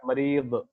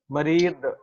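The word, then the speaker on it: مريض: Arabic word है, वो मरीज, जी ठीक है ना। जी। उसका एक्चुअल प्रोनाउंसिएशन जो है वो है मरीद। मरीब। ओके। जी। मरीद, द का थोड़ा साउंड आता है, मरीद।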